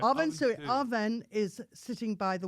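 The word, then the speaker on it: Amhuinnsuidhe: If you think of Sui, Yeah. Chop Suey. Don't think you'd ever get that from the way it's spelled.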